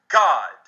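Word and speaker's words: Gad: the word g a d that word is pronounced in Hebrew init as God and that can be proven with just about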